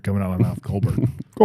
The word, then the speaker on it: Colbert: If I didn't know otherwise, why do I got to pronounce it like I'm a freaking Frenchman? Yeah. If I didn't know otherwise, I definitely would say Colbert.